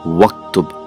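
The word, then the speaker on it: اكتب: where it is Uktub, the sound disappears. So how do we pronounce it? We just say Waktub.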